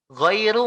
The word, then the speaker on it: ghairu: Tadinya ru malah jadi ro. Walaupun hurufnya nggak berubah, tapi harokatnya kan berubah. Tadinya dhammah, u, diganti jadi fathah atau a, ro.